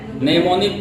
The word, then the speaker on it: नेमोनिक: इसको कहा जाता है नेमोनिक कोड। क्या कहा जाता है? नेमोनिक कोड कहा जाता है। एम यहाँ पर क्या रहता है? साइलेंट रहता है।